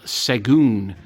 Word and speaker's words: Sahagún: We are doing the battle of Seon. Now that's not how it's spelled. That is how I believe it is pronounced though.